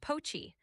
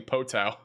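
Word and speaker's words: Poteau: It's pronounced poachi. The emphasis is on. It's poachi. This is poachi. I don't think that's right. Everybody else is saying poto.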